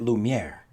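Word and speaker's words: Lumière: behind the scenes credit I totally butchered that candlestick's name Justin was the one who came on in and let me know it's Lumiere because I I did not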